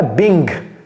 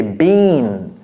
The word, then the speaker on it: being: Ne dites pas being, ce n'est pas being, ok, c'est been, been, ne prononcez pas le G.